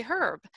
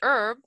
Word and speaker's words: herb: And the British actually pronounce the word herb with an H. So they say herb. And so if you, you know, pronounce it herb, that's the American way.